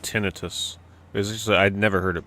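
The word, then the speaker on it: tinnitus: I'm pretty sure it's pronounced tonitis. Anybody got a dictionary handy that can look it up? Oh, it's the British way of saying it.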